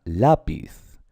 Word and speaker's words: lápiz: Por ejemplo, la palabra lápiz son 2 sílabas, ¿verdad? Y es llana, lápiz.